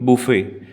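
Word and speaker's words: buffet: के स्टॉल्स लगे और इसको हम कहते हैं बफेट जो है वो साइलेंट है आप बोलिए बफेट चलिए एग्जांपल आई लव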